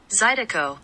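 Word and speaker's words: zydeco: sorry I'm looking at zedo songs okay now pronunciation guys it's our favorite part zido zido zido zido zido zido okay okay Wilbur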